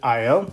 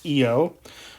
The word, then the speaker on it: Io: So, the innermost moon of the four Galilean moons, so this is the innermost moon, is named Io. Sometimes it's pronounced Io.